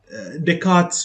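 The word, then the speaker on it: Descartes: If you use the decass you know this is given by decart I think so the scientist name yeah decart's rule we pronounce it as decart and that tells us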